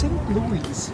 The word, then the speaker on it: St. Louis: Yeah, it's St. Louis. You need to pronounce the S.